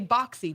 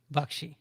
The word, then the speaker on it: Baxi: Bakshi. I did it right. You did great. I want to say boxy, but it's boxy. Bakshi.